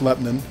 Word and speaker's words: Lebanon: It's spelled Lebanon, but it's pronounced Lebanon.